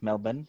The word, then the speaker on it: Melbourne: Yeah, Yes, that's the correct pronunciation. Yes, Melbourne.